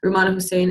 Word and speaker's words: Rummana Hussain: to see done, just like what's her name, Rummana Hussain? Am I saying it right? Yeah, Rummana Hussain and Friedensreich Hundertwasser worked on to convey ideas